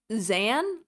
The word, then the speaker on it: Xan: Xan. Like Zezy. Xan. It's It's like Xan. And she calls him Zezy. It's totally pronounced Z an.